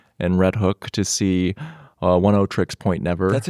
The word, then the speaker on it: Oneohtrix Point Never: Last night, Dan and I, we went to Pioneer Works in Red Hook to see 100 gecs point never. That's how you pronounce it? 100 gecs point never.